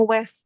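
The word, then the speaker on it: Ouest: e ini l thees ini bacanya gini Mas eh itu bacanya West West W West West West Iya Kak West barat bahasa Inggris West jadi Prancis itu ada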